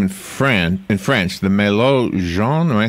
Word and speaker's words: jaune: It says here, the translation is, it's actually got a name in French, the Malo Jaune. Am I saying, how do you say yellow in French, Robin? Jaune. Jaune, okay. But Americans call it the Mellow Johnny.